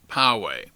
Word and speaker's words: Poway: of the city of pawe California is indeed pronounced pawe you have my apologies and now on to